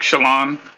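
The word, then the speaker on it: Chelan: you know Washington State Lake Shalon it's it's spelled c h e l a n but anyway camera yeah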